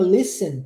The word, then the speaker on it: listen: essa palavrinha Listen que é de escutar verbo escutar a gente não pronuncia o t nunca nunca se pronuncie o t o t é mudo e eu sei que